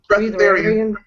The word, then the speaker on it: Breatharian: Breatharian? Breatharian.